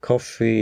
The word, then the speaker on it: Ko-fi: At coffee, as you know, I'm a tea drinker, but coffee is spelled Kofi, and there you could donate similar to Patreon on a regular basis and one time.